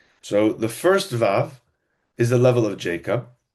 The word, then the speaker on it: vav: It's just pronounced vav.